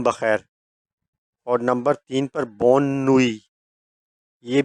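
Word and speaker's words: bonne nuit: इसका मतलब शाम बखैर और नंबर तीन पर बोनुई यह भी न्यूट्रल है।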